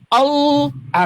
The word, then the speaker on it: Allah: doble artinya tebal dalam bahasa Arab tebal L-nya dobel all. Ah, kayak gitu bacanya. Makanya kan kalau kita baca bahasa Inggris nih, Bang, kita baca dalam bahasa Inggris nih ya. Enggak ada orang Inggris bacanya al tapi all. Kata orang Inggris tebal dia. All tinggal kita tambah aja.